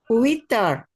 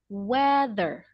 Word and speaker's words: weather: Witter. Okay. Missy. So actually to pronounce this word correctly is weather.